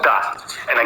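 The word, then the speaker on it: да: you agree with someone D and again this first letter here is D it looks like a house but it's pronounced as d and a of course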